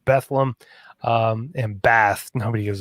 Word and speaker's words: Bethlehem: nazareth egypt bethlehem um also if you're from the lehigh valley it's pronounced bethlehem um and bath nobody